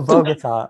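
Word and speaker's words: Bogotá: pagoda colomba columbia bogota oh bogota okay whatever my stepmom is from there so i know how to pronounce it yeah bogota colombia befriends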